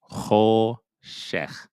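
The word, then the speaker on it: חֹשֶׁךְ: Similar to the hate, where ho, shech, just like that. We choshech, we choshech. And choshech is the word for darkness.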